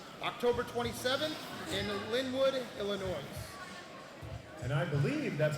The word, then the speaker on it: Illinois: on September 21st piora Illinois October 27th in lywood Illinois and I believe that's pronounced Illinois without the S but that's because Illinois